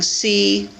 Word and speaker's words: comb: So we have, listen, comb with the vowel sound O, tomb with the vowel sound oo, and bomb with the vowel sound ah, bomb.